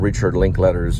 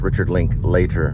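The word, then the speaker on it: Richard Linklater: Austin and Landing a small little roll in Richard link letters Newton Boys which which I auditioned for I talk to Richard link l it's actually pronounced Richard link later but I said Richard link letter but here's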